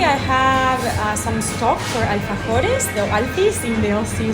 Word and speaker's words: alfajores: So tell me about the alfajores. Yeah, that's perfect pronunciation.